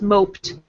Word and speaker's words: moped: And here, past tense, moped. And since this is past tense, we have a P. Make the end like a T sound.